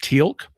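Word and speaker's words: Teal'c: really cool guy named Tilk. And for some reason he's got an apostrophe in his name even though they don't pronounce it in any way.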